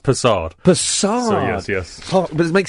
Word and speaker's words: Persad: It's from Trinidad, it's pronounced Persad.